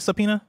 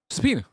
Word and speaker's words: subpoena: Subpina. Subpoena. Subpoena. Yeah, you're doing great. I know it's it's spelled weird I would have thought.